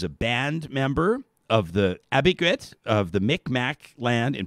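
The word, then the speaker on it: Abegweit: How do you pronounce the name of your First Nation? Abiquit. Abiquit.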